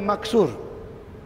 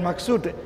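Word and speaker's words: مقصور: yang pertama nama dia maksur Cuba sebut maksur bukan maksud maksur maksur ejaan dia mim kaf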